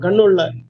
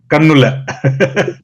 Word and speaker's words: கண்ணு பிள்ளை: அது கண்ணு பிள்ளைன்னு திருத்தமா நாங்க உச்சரிக்க மாட்டோம். கண்ணுள்ள கண்ணுல. அப்படிதான் உச்சரிப்புல வரும்.